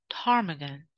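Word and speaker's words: ptarmigan: told Willow Tagan Willow tarmigan just be careful that letter p is silent in this word Willow Tagan its unique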